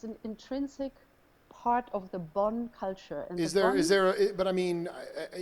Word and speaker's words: Bon: How do you spell that? B-O-N.